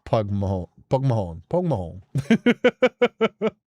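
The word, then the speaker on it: póg mo thóin: But yeah, it's pronounced more like pog pog horn. Pog mahorn.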